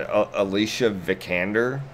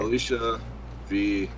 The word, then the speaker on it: Alicia Vikander: And Alicia Vikander, am I pronouncing that right? Yep. I'm gonna pretend that I'm pronouncing it right. Okay. Alicia Vikander.